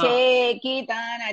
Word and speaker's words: चेकितान: Chekitana, che is dirgha.